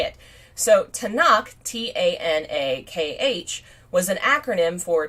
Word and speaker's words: Tanakh: Tanakh is a acronym for 3 letters, the 3